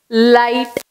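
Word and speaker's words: light: நம்ம அது சொல்ல போது லிஸ்ட் அப்படின்னு சொல்ல மாட்டோம், தான் லிச் ஹெச்டி அப்படின்னு சொல்ல மாட்டோம், லைட் அப்படின்னா சொல்லுவோம்.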